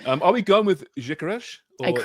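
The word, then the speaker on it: Gyökeres: So, they're saying that the G is pronounced more like a DJ, like a J, and then the S is a sh. So, that's why I'm going with Joe Caresh.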